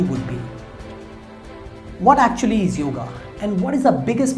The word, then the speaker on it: yoga: They call it as yoga, but the proper word is yoga. Spelling wise, if you say it is correct, Y-O-G-A is a correct spelling, but when you pronounce it, you should not say yoga. You should always say yoga.